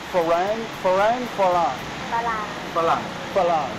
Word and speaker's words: ฝรั่ง: Farang is a Thai word actually, and it's not pronounced Farang in Thai. It's pronounced Farang.